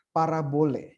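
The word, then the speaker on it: παραβολή: dengan bahasa Yunani lalu dalam bahasa Yunani itu dibacanya adalah parabole ya parabole Hai secara sederhana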